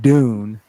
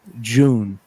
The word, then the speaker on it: Dune: so we say it dune the english people say it with like a j sound jun yes yes like english